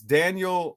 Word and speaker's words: Daniel: And so it was Daniel.